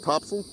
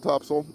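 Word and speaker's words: Topsail: Uh in Topsil, where they call it Topsel. It's spelled top sail. Uh T O P S A I L. Locals call it Topsil.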